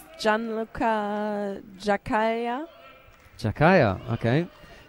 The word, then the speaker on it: Giaccaglia: also police she hasn't helped us with the pronunciation but we know that he's a policeman okay I was right it's Jan Lua jaaya jaaya okay right I'm going with that then